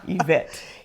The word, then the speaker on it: Yvette: But since it's a French, base name, then the Y is pronounced like an E.